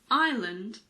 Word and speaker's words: island: the most common ones are Isle Bourgeois debris Island and Isle yes the first word and the last word are pronounced the same they're homophones there are quite